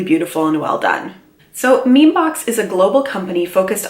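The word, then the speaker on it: Mimi Box: under a bigger label it's under the name mean box although I think they want you to pronounce it me me box but Emmy Emmy to me is mean in any case that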